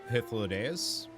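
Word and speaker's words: Hythlodaeus: But it's not D, it's day. It should be Hythlodeus.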